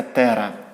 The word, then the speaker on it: тера: нас 12 ноликів це великий велика літера Т читається Тера Тобто ми Пишемо 5,9 Пишемо велику літеру т